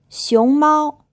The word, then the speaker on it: 熊猫: 熊猫 Another really useful word if you're learning Chinese. The first syllable is in the 2nd tone, and the 2nd syllable is in the 1st tone.